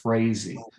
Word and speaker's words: Frazee: then you'll see randy frazee that's how you pronounce his last name is is frazee um and so you'll